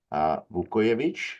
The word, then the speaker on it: Vukojevic: It is my pleasure to welcome Vukojevic. Is that right? Am I pronouncing that right?